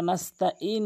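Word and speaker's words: نستعين: যারা নাস্তাঈন বলেন তাদের অর্থ চেঞ্জ হয়ে যায়। নাস্তাঈন, আইনটি হলকের মাঝখান থেকে।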